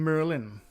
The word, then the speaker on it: Maryland: We pronounce him Merlin.